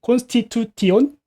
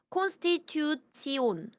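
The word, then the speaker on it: Konstitution: 콘스티튜티온? 오! 맞습니다. 오, 콘스티튜치온. 치온. 네. 음, 콘스티튜치온. 요렇게 읽으시면 돼요.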